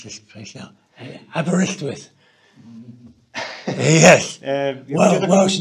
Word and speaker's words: Aberystwyth: Aberystwyth. Yes. Welsh name. It's a Welsh name. Aberystwyth.